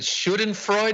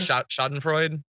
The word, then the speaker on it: Schadenfreude: No, you said, is it Schadenfreude? How do you pronounce that word? Schadenfreude. Schadenfreude. Taking pleasure in the displeasure of others or the pain of others. Yeah, Schadenfreude.